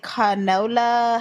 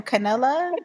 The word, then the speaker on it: Canelo: He defeated Canola. How do you say his name? Canela. Canola. Canoli. Alvarez. Canoli. I think it's Canelo.